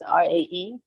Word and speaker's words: Jui: The tag there spell my name as Jui, but Jui pronounced as RAE.